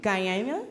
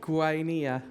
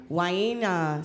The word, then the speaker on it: Guainia: Uh Yukayyaki Guia Yukayyaki Guyana Guia Guina see we have to make sure that our pronunciation is right today.